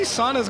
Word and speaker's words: sauna: How many saunas got brought here? Or sauna. It's a sauna. A sauna? Sauna. It's a sauna. It's a sauna. But how they pronounce it in Finland.